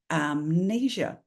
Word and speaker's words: amnesia: we do it right but when it's not at the beginning of a word anymore the M comes back Amnesia so if you're teaching